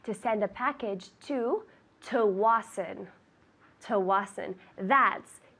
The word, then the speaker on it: Tsawwassen: TSAWWASSEN. Very good. That is difficult. We say Tsawwassen. Tell me. Tsawwassen. Good. Tsawwassen. Luca says that it sounds German.